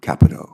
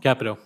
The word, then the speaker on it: Capito: Uh, thank you Senator Carper and Ranking Member Capito and the committee for having me here to testify today. Just just for the record, uh, we pronounce her name Capo. Capo.